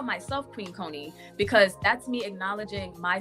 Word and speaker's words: Koni: so um you know my name is pronounced con however um my sister um I I don't know which sister it was but my older sister was like you know she didn't like the pronunciation of my name and so she started calling me Connie and so like all